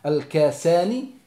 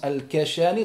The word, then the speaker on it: al-Kasani: Comme il rapporte l'imam Al-Kasani, certains prononcent Al-Kashani, dans son livre Bada'i'